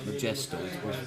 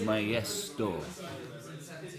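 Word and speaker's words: Njesto: Well, the J is pronounced Y. So where it's spelled N-J-E-S-T-O, it looks like Majesto. It's Majesto. You see?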